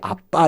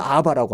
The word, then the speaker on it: 아빠: 그 대표적인 게 아빠 이런 거 우리는 잘 발음하지 않습니까? 근데 영미 사람들은 아빠란 발음을 못합니다. 그래서 아바라고 합니다. 우리는 아빠, 그 이스라엘 본래 아빠거든요.